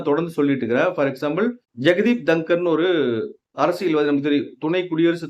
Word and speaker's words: தன்கர்: அந்த ஜெகதீப் தன்கரோட பேர் வந்து அதாவது இங்கிலீஷ்ல வந்துடிஹ எஜிஆர்னா தங்கர்னு சொல்லலாம். பட் அவரோட பேர் வந்துடிஹ கேஹஏஆர் அப்படிங்கும்போது அத தன்கர் அப்படிதான் சொல்லணும் பட் தமிழ் செய்தித்தாள்களும் தமிழ் ஊடங்களும் தங்கர் தங்கர் தங்கர் சொல்றாங்க இந்த உச்சரிப்பே எப்படி உச்சரிக்கிறதுன்னு